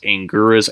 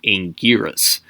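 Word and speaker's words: Anguirus: a bit difficult because they kept referring to him as like Angelus Angus angoras and all stuff nobody knew how to pronounce his name that wasn't until like way later where his official trademark name in pronunciation was angiras um a bit tricky to spell but regardless um it's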